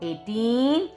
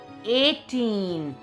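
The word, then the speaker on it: eighteen: Now 18. ये आपको learn करना है. EIGH. A. 4 letters but 1 sound because GH is silent.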